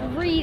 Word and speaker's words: Reed: you're out there living it my name is reed it's spelled r-e-e-d and i'm nine years old but